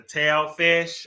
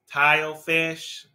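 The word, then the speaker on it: tilefish: you um yeah okay the number 16 is a tail fish I believe how you say it tile fish I don't eat that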